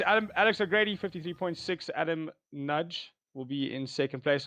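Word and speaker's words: Nagy: just FY it's Adam nudge um believe it or not even though it's spelled n a g y it's a Hungarian uh Chap and his her name is nud it got me off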